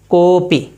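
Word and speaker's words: कोऽपि: कैसे इसका उच्चारण करेंगे? कोपी।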